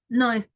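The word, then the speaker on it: know: verb no why because all the time that you have a letter K and letter N we do not pronounce the first one the letter k no it's not optional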